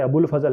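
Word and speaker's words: अबुल फ़ज़ल: ने, जो अब हमारे अबुल फजल है, ये ध्यान रखिएगा, ये अब्दुल नहीं है। नॉर्मली आप अब्दुल नाम सुनते हैं, ये अब्दुल नहीं है, ये केवल अबुल फजल है। अबुल फजल बेसिकली इनको जो प्रोनाउंस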